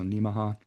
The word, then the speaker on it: Nemaha: And by the way, that pronunciation is kind of like Omaha. It's a good way to remember that. So Nemaha.